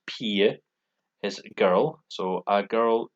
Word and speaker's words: pige: It looks like pigger, but it's pronounced pige, is girl.